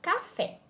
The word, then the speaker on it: café: de pronúncia Por exemplo quando você diz café uma das sílabas é pronunciada com mais intensidade E a outra com menos intensidade vamos falar de novo C fé a sílaba fé é a mais forte e portanto é a sílaba tônica já a sílaba k